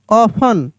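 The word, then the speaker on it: often: patient L आई एस टी ई N listen O एफ टी ई एन ऑफन सी ए एस टी एल E castle S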